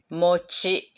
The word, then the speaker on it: mochi: is this ah mochi mochi pronounced as mochi it sounds like a mochi ice cream exactly the same sound